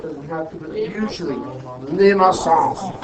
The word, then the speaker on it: limaçon: When you see a sum out front, it'll usually indicate a limaçon. It doesn't have to, but usually limaçon. Okay, it's French. The correct pronunciation is actually limaçon.